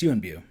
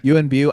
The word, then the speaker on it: Yuen Biao: uh is it Yuan Bow? Uh unbu is really I always pronounce it, but it's you and Bu. Yeah, you bu I was not so